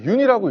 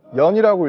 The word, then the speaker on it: 윤: 많은 분들이 아마 이제 윤이라고 읽거든요. 연이라고 읽으실 수도 있고 뭐 여러 가지 방법으로 읽으실 수 있는데 윤영근 화백님의 성입니다. 그래서 외국에서는 윤이라고 많이 부르기 때문에 제가 그 윤이라는 선생님의 성을 제가 이렇게 제목으로 쓰게 되었고요.